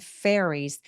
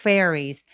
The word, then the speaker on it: fairies: He saw 7 fairies. fairies 발음할 때 F 앞에서 발음이 확 느껴질 수 있도록 fairy 아니고 fairies. fairies 라고 소리 내주세요.